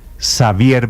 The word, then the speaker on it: Xavier: Yo diría que si es la versión catalana Xavier vendrel Ese es su aunque esa elle del final de vendrel tiene una pronunciación catalana que yo no alcanzo y desde